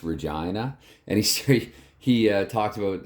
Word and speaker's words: Regina: it was um Springfield and yes it is pronounced Regina and he he talked about they made a